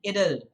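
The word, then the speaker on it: idyll: is known as idle remember the pronunciation idle that's how you are going to say that a sad poem lamenting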